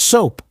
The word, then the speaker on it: soap: It uses the long O U sound, like go, no, or home. Listen closely. Soap, soap. Your mouth moves from an open shape to a small rounded shape.